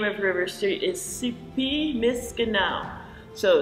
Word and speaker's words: Sipi Miskanaw: One of the Michif language spellings and pronunciations for the name of River Street is Sipi Miskanao. So Sipi Miskanao.